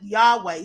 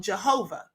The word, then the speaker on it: Yahweh: you can't pronounce it some of us call it Yahweh some people even uh call it Jehovah because they add a j instead of the Y and I don't know